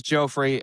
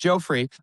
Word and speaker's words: Geoffrey: It's always like a debate on how to pronounce my name cuz it's spelled Jeffrey, but because I was born and raised in Holland, long story short, it's pronounced Joffrey.